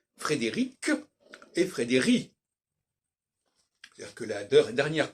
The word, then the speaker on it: Frédéric: était on s'est entendu sur l'idée qu'il fallait prononcer Frédéric et Frédéric que la dernière consonne doit pas